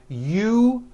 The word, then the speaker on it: usual: Break it up into 3 syllables. U-ju-ol. That second syllable, ju, the one with the underline, needs to be voiced.